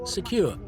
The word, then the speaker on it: CQR: Taylor invented the CQR anchor which pronounced could recall the pronunciation of secure its shape and function